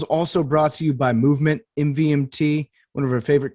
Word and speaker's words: MVMT: and clean original designs mvmt pronounced movement grew into one of